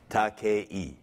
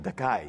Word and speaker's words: Takei: It's pronounced the Spanish way. E como en escuela, I como en iglesia. Takei. Takei. But I don't object to the mispronunciation, Takai, either, because there is a legitimate Japanese word pronounced Takai, spelled T-A-K-A-I, which translates into English as expensive.